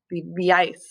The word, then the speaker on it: vivíais: And for or vivir, because it's an IR verb, but it has the same endings, the accent on the I, vivíais.